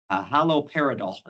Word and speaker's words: haloperidol: In fact, the only RCT we have, that was one of the 13 studies that we looked at, compared low-dose haloperidol is how you pronounce it.